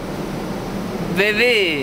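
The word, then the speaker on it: Beauvais: Allora, per provare la pronuncia francese, sentiamo come si dice BV. BV. BV. BV. Sentiamo la sociale. La sociale? Bevè.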